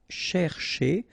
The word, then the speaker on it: chercher: here, this first part, you've got to pronounce it cher, okay? But the second part, because it's ending with a R like that, so it should be e, so chez, okay?